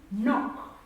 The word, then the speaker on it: knock: Another word with the sound and the k is silent is knock. The word is knock.